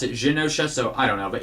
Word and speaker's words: Genosha: I guess Genosha is how it's pronounced. Before, I always called it with a G, a hard G. Wow. I always pronounced it Genosha with a hard G,